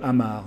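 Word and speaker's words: Amager: aéroport de copenhague il est sur l'île de amar ça s'appelle à m her mais ça se prononce à marc et donc après avoir expliqué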